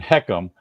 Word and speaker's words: HECM: and and you just helped me by saying heckum now that I have an actual way to pronounce h e CM I feel much better